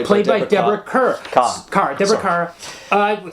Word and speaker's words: Kerr: Edith Hunter played by played by Deborah Kerr Car. Deborah Car. Uh spelled Kate. It is spelled car.